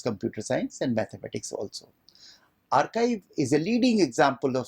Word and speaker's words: arXiv: second example is archive it is spelled as arxiv but pronounced as archive that was started in